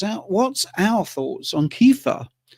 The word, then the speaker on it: kefir: What's out what's our thoughts on kefir or kafir as they say in America?